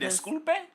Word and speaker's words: Disculpe: Disculpe? Yeah, I don't think you're saying that right. Disculpe. That's how you say it.